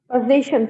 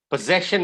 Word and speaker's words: possession: read the next one position first one possession is how you pronounce the word possession possession what is